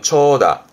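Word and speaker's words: 長蛇: 발음은 초다.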